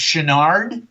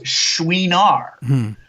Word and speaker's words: Chouinard: Everybody thinks it's Chenard, and everybody says Chenard, but the way Mrs. Chenard pronounced it was Chouinard, because it's French.